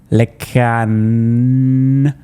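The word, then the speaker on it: LeCun: fact accurate to describe Lecan, remember the T is silent, as having been quite negative basically all the time.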